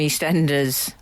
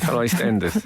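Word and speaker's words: EastEnders: previous with Ethel from East Enders um mispronunciation he called her e standers yeah he called Benjamin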